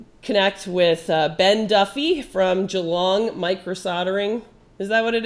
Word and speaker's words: Geelong: and we're gonna connect with Ben Duffy from Geelong Microsoldering.